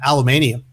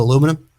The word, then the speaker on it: aluminium: they also i think they pronounce an aluminium instead of aluminum this is the weirdest